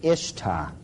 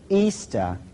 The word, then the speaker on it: Ishtar: A lot of people thought it was Ishtar. But if you check the original transliteration, the Babylonian one, it is still pronounced Easter to this very day.